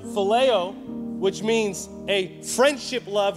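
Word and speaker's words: φιλέω: he was using is that greek word that's pronounced phileo which means a friendship love or better use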